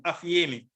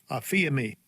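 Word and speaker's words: ἀφίημι: Put away is G863, aphiemi. This is the pronunciation. Strong's G 863. Aphiemi.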